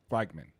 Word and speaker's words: Wagman: having uh Connor uh Wimman. Uh yeah, Wgman. Weman. Yeah. So it's like it's Wagman actually. Waggman. I did a pronunciation dictionary and it's Wagman.